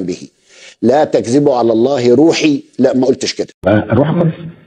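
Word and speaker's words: رَوح: بيحر في نطق الايه الايه بتقول روح الله بفتح الراء وتعني فرج الله ورحمته وليس روح الله بدم الراء كما نطقها المدلس الكذاب ولا تياسوا من روح الله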